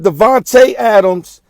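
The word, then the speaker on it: Davante Adams: you gotta give me three shots he hit Devonte Adams who started out on the left side ran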